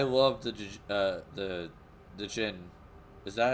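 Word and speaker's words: Djinn: the uh the the Gin is that how you pronounce it I I believe the D is basically silent and with the way we pronounce it in English so it's just Ginny or yeah um yeah it's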